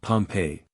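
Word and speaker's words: Pompeii: by myself chapter 31 the buried city of Pompei they pronounce it pompe I always had an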